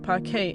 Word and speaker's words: Parquet: Moving from row based to column now formats like paret pronounced paret and o rc can yield dramatic improvements.